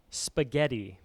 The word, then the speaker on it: spaghetti: Little silent H in there.